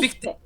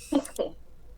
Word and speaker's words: Fichte: Fichte, Fichte, ándale, Johann Fichte.